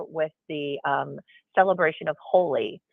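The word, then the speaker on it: Holi: um called holy moly which it's spelled h-o-l-i and it is a Festival of Colors and so if you're not familiar with the um celebration of holy it's um an ancient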